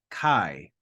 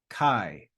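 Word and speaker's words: καί: and E together quickly so instead of saying a e we say I I we read them together all right so that next word is Kai Kai Kai and you see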